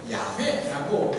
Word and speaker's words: 야훼: 그래서는 시편 연구자들은 이런 시들을 가리켜서 여호와를 왜 이 학자들은, 그리고 여호와라는 이름의 원래 발음은 야훼라고 여겨집니다.